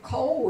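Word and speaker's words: כל: Oh, and Kol is another example of a Kametz Hatuf. Yeah, okay. Kol, it always says Kol.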